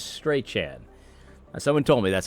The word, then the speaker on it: Strachan: It's like you've heard of 4chan, 8chan. Well, this is Strachan.